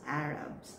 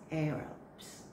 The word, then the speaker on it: Arabs: So we sometimes say it as Arabs, no? But it's Arabs.